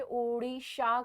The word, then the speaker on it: ओडिशा: अब जो है इसको चेंज करके ओडिशा कर दिया गया है, ठीक है, ओडिशा, because this is हाउ the people speak, ओडिशा बोलते हैं वो लोग, ठीक है, उड़िया लोग।